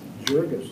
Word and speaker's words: Jurgis: Yeah, and to clarify, and I haven't told you this, Mayor, the pronunciation of his last name is Jurgis. Jurgis, not Jurgis.